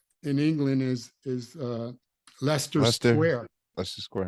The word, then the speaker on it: Leicester: you know your computers he goes oh Oh you mean Leicester Square and I said Lester Square that's how you say it and I said well